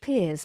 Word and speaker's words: Pears: medias um underscore peers I need to be clear that it's spelled Pairs and pronounced peers because it's French that was a very